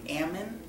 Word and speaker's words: almond: like what is it but they have an almond but they say Ammon instead of Al right my we went